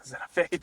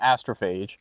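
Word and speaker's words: Astrophage: I'm I'm forgetting the name so I'm just calling it Zenophage. Uh you saying it wrong. Astrophase.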